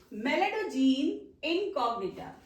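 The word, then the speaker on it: Meloidogyne incognita: Mind the pronunciation, Melanogyne incognita.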